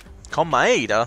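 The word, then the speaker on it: Komaeda: this incident was the victim Nagi tokuma ADA come by ADA that's how you pronounce it he kept a specific item inside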